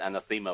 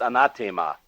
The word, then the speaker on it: anathema: Some Americans pronounce it anathema, but it's slightly off. It's anathema.